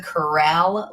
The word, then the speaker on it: Kuraly: since been corrected that it's the corral leap. Can you confirm? You got to take out a of course you got to take out one of those syllables. It's cleaner.